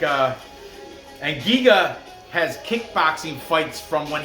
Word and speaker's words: Giga: know what i'm saying jiga though giga i'm sorry i keep saying g saying soft g but giga has those